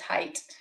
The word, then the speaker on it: height: I would say height with a th. Oh, yeah, instead of just height.